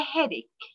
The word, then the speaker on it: headache: Now, a headache. A headache. We will see this word, ek. Ek, it means alam. Ek. And we should pronounce CH as k, not ch.